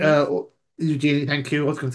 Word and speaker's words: Eugenie: Now take Princess Beatrice and Princess Eugenie. uh Eugenie.